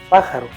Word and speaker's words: pájaro: dice haiga sio haya que en cada palabra hay una vocal que se pronuncia más fuerte como al decir pájaro ya que no decimos pájaro así como tampoco decimos cocó sino coco de esta manera mediante